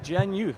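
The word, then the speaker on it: GenYOUth: And you guys are working with Gen Youth, correct? Did I say it right? Absolutely. You did.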